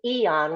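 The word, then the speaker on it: Aeon: And that will give you give somebody either two months of X39 and two months of Eon, which is spelled AEO N, or three months of the X39.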